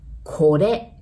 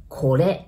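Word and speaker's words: これ: So this, we say kore, kore. Remember R, we pronounce it like L, right?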